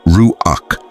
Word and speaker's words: ruach: In Hebrew there's the word ruach pronounced ruach which shows up over 300 times in sacred texts.